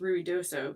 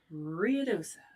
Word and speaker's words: Ruidoso: New Mexico, which is actually pronounced Ruidoso, but us Texans are like, Riosa.